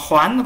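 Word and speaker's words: 还: Một số bạn bảo thấy ở chỗ này phải đọc là hái, sao lại là hoán, thì từ này đọc là hoán, có nghĩa là trả nhé, trong động từ trả sách nhé, thay tôi trả sách nhé.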